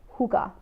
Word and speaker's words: hygge: you want to look more into who got it's spelled H Y GG e hookah and the Danes do it so well because